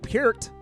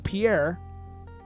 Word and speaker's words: Peart: You don't spell it like Peart, but people love to say like Neil Pierre with a T at the end. Neil Peart.